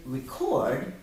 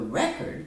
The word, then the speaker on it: record: We can record how long it takes to find a word. The record shows which word was found the fastest. Record and record.